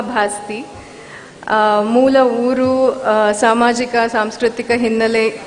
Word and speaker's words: ಭಾಸ್ತಿ: ಬಗ್ಗೆ ಹಲವು ಚರ್ಚೆಗಳನ್ನ ಕೇಳಿದ್ದೇನೆ ನನ್ನ ಸರ್ನೇಮ್ ಅನ್ನು ಭಾಸ್ತಿ ಬಸ್ತಿ ಬಸದಿ ಬಸಂತಿ ಅಂತ ಏನೇನೋ ಬೇರೆ ಬೇರೆ ಸ್ಪೆಲ್ಲಿಂಗ್ಗಳಲ್ಲಿ ಯದ್ವತದ್ವ ಉಚ್ಚಾರಣೆಗಳಲ್ಲಿ ಹರಡಿವೆನಾನು ನಾನು ದೀಪ ಭಾಸ್ತಿ ಮೂಲ ಊರು ಸಾಮಾಜಿಕ ಸಾಂಸ್ಕೃತಿಕ